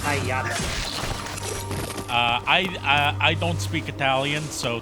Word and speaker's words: Pagliacci: from the son of an opera buff, it's pronounced Hayata. I don't speak Italian, so thank you for correcting me. No worries. I don't speak Italian either. I just know that it's pronounced Hayati because my father, he told me a lot